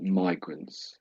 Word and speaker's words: migrants: So, I think you said migrants and there is that problem is the is it an e side of the sound? E. Yeah. That's always the tricky thing, isn't it? Here it's And there's no real way of knowing, I would suggest.